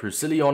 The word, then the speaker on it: Roussillon: at the new objectives the flashback rusilion i believe it's pronounced and i can't lie